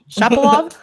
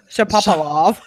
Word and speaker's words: Shapovalov: Shapovalov? Shapovalov.